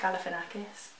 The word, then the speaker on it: Galifianakis: Is that how you pronounce his name? Yeah. How's that again? Zach Galifianakis.